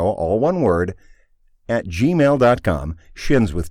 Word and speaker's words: Shin: says a shin show, SHIN. Anyway, get to look. the point. Yeah. And it is pronounced shin, too, not shine. Some people like to think it's shine.